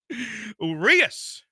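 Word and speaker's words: Urías: Urias is how it's pronounced, but not in the lineup today.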